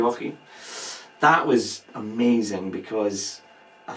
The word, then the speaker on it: Treorchy: I don't know how it's pronounced. Is it Treorchy? Yeah, I think that's correct. Treorchy.